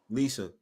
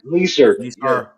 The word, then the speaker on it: Lisa: Cuz my mother's from the Bronx and um for some reason when she says my name, there's like an R when well when she used to say my name, there's like an R at the end like Lisa. Liser. Yeah. Lisa. Lisar. That might be the It might be the older generation that still have that because I think my